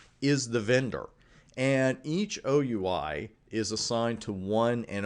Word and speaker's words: OUI: the organizationally unique identifier unfortunately we pronounce that oui the acronym I wish we said we but we don't it's oui and that's exactly what